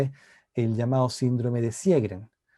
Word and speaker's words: Sjögren: el llamado síndrome de sjögren que se escribe sj o que rn y con diéresis en la joven entonces el síndrome de cierre es una enfermedad autoinmune